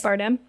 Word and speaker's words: Bardem: Bardem?